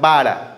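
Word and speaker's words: בָּרָא: porque la palabra creo en el hebreo es vara o bará algunos lo pronuncian bará algunos lo pronuncian vara B a r a sí vara Esa es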